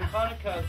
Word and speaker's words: Hanukkah: And Hanukkah, because it's spelled with a chet rather than a kaf, is actually much closer to an H than a C. So Hanukkah.